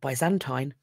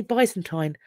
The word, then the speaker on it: Byzantine: We have Roman, Coptic and Byzantine, or Byzantine. I've heard it pronounced both ways. I say Byzantine, but I've heard it said differently.